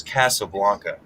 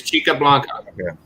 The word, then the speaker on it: Chica Blanca: called chick up jesus casablanca no it's chi it's chica blanca oh my goodness i